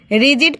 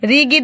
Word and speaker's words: rigid: यहाँ पे रिजिड पढ़ेंगे इसको, रिगिड नहीं पढ़ेंगे, क्योंकि यहाँ पे जी का उच्चारण जो आ रहा है, ठीक है। तो आप क्या बोलेंगे, रिजिड, ठीक है।